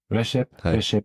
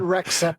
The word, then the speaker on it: Rexhep: from Ming watches and Rashi I hope I pronounced your name correct very well wonderful he said Rex up earlier this IED and I said no that's right right yeah so wonderful